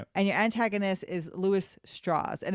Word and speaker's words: Strauss: your antagonist is Louis straws and it's com it's pronounced straws um it looks like Strauss but it's pronounced straws and basically these two